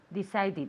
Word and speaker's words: decided: Decided. Good. So we have decide, which the sound is a D. So the past is decided. Decided. Another syllable.